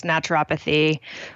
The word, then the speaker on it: naturopathy: to my listeners what naturopathy is and if I've actually pronounced that correctly. Yeah, you can pronounce it in a few different ways, but that's how I pronounce it, is naturopathy or naturopathic medicine, also in air quotes.